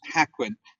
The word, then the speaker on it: Hakuin: which is the autobiography of zen master uh hakuin i'm not sure i've pronounced his name correctly yes haquin but he i mean he talks in in